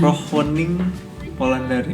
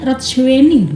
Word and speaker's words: Rochwening Polandari: Rohwening Polandari. Nah, kira Rohwening Polandari juga sih. bener, udah bener. Ya benar semua. Mbak. Emang kenapa? Artinya Ada yang salah? Enggak. Ada beberapa orang panggilnya Rothschwening.